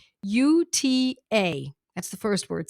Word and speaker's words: Cicuta: So the medicine tonight that we're going to be talking about is a fun one to pronounce. It's called Cicuta virosa. Cicuta, Cicuta. That's the first word, Cicuta.